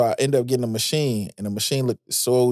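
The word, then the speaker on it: Maschine: man shout out to how they say it overseas is Machina but over here we say machine right but man Native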